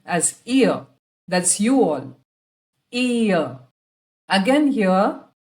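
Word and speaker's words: ihr: Ear. Again here, the R at the end is silent and also the H is not very distinct. It's ear.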